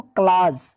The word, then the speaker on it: clause: क्लाज, CLAUSE, इसमें you silent करके पढ़ेंगे इसको, क्लाज।